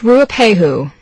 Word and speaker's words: Ruapehu: Mount Ruapehu. Can you spell that? Sure. It's R-U-A-P-E-H-U.